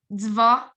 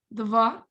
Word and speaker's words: два: So as you can see in, a very common word, dva, this D sound is pronounced hard. It's not zva, right? It's dva.